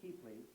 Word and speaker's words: tiple: That was, no, that was Paul played the tiple, spelled tipple, so most people pronounce it wrong. It's a tiple, and there's also a taro patch, and I'm not sure which one was which right now.